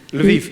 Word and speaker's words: Lviv: Actually in Kiev and, I'm going to pronounce it wrong, Lviv? Lviv, yes.